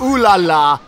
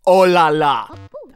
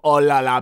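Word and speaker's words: oh là là: because that supposed to be a part of ooh la la but it's actually pronounced oh la la I've taken French in middle school I know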